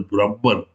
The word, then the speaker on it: Brahman: It is pronounced as either Brahman or Brahmana. Both are right.